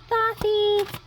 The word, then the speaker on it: Thoth: Some pronounce it Toth, some pronounce it Thoth, like me.